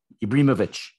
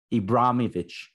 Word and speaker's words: Ibrahimovic: Ted lasso was uh based upon Zlatan Ibrahimovic ibrimovic Ibrahimovic anyway I'll let Muse Canadian God bless there's no Canadian pronunciation for that he had a he had